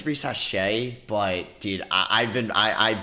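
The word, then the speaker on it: Risacher: So say it one more time, Risache.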